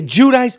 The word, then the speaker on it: Giudice: name and she says just say Giudice so that's what I say Teresa Giudice some people say Judy Chi that doesn't sound right doesn't it sound like a like an actual name Teresa Giudice from the Real Housewives